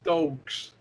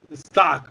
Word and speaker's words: Stock: Sarah Stokes. That was her name. Sarah Stokes. I remember her last name now. Sarah Stokes. Stock. I'm sorry. Stock. Put some respect on her name and say it right, player.